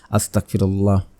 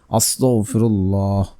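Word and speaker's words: أستغفر الله: এস্তেগফারের বহু বহু ফজিলত অনেকে এস্তেগফার ভুলভাবে পড়েন অনেকে ক আস্তাগফিরুল্লাহ আস্তাগফিরুল্লাহ আস্তাগফিরুল্লাহ এভাবে পড়বেন না আপনারা পড়ে নেবেন আস্তাগফিরুল্লাহ আস্তাগফিরুল্লাহ আস্তাগফিরুল্লাহ আস্তাগফিরুল্লাহ আস্তাগফিরুল্লাহ আস্তাগফিরুল্লাহ এভাবে পড়বেন উচ্চারণ ঠিক রেখে তারপর হচ্ছে আপনারা রাসূল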